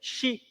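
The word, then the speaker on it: 四: marcava 4:44 da manhã o número quatro no Japão pronuncia-se XI e existe uma superstição de que esse som posse pode significar morte porque morte em japonês também é xi por isso que o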